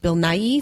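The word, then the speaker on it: Bill Nighy: of the Caribbean um I forget how you pronounce his name Bill n Bill NY Bill n Bill Nai thank you whatever he weird name Stanley he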